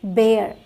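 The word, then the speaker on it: bare: बी ए आर ई बेयर बी ए आर बार बोला जाएगा बी ए आरई बेयर बोला जाएगा ठीक और जगहों पे आपने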